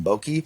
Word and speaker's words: Boyke: on Instagram at Boyke. It's LINNBOYKE. The Y is silent. That's what we were told.